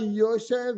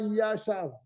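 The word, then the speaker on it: יושב: Ou bien au lieu de dire au Mordechai Yoshev, il dit au Mordechai Yashav. Il n'a pas accompli sa mitzvah.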